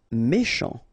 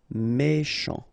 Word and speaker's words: méchant: Méchant. Final T not pronounced. CH together, sh. Méchant. Méchant.